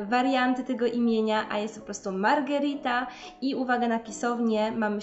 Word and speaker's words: Margherita: tam o okrąglutkie Paulo i nawet jeżeli szybko wymawiamy to imię to jednak gdzieś tam musimy się zaokrąglić i ostatnie imię to Margherita jest to odpowiednik naszej Małgorzaty oraz nazwa pizzę